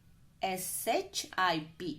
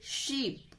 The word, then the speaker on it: ship: S-H-I-P, ship. Not pronounce it sheep. It is not a sheep. Got it? It is a ship.